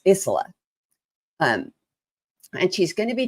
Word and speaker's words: Isola: Now I want to let you know that our guest next week is Reverend Kelly Isola. I said it wrong. It's Isola.